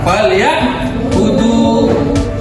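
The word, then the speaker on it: فَلْيَعْبُدُوا: Ila fi rihlatash shita'i was-sayf falyabudu. Falyabudu. Waw sukun jatuh setelah harokat domba, maka namanya mat tobi. Panjangnya dua harokat, boleh ya, dua harokat. Falyabudu, jangan bacanya falyabudu terlalu panjang, bisa seperti itu.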